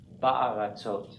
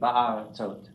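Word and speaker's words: בַּאֲרָצוֹת: But what happens is that the vowel or the schwa matches the vowel class of the chatef. So then you get this as a patach. So it's not a schwa because you can't have two in a row, but it matches the vowel class of the chatef patach, of the chatef, whatever the chatef is. So it's ba'aratzot.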